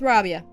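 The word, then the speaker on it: Rabiah: We're going with Rabia. I think I've pronounced this plane's name every way you possibly can, and all of them have been wrong until this moment. I know I've said Rabia, which sounds too much like Arabia.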